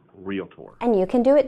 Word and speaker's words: Realtor: The way to say it is realtor. The correct pronunciation in Virginia is realtor. I think it's the same pronunciation in North Carolina, Texas, Oklahoma, or even if you went to a foreign country, it's realtor.